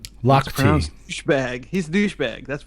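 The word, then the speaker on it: Lochte: My wife is showing me that it's pronounced Lock T. Lock T.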